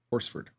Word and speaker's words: Horsford: Horsford, I think is how you say her name.